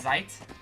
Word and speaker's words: Zeit: down we can summon zate I guess just pronounce zeit zeit all right defense down attack delay huge